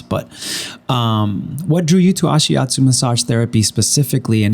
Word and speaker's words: Ashiatsu: So tell me, what drew you to Ashiatsu? That's how you say it, right? Mm-hmm. Ashiatsu.